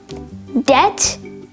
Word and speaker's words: debt: the silent letter b debt doubt and subtle now in the pronunciation of these three words the b sound ba is completely absent that's because the b is silent however there are quite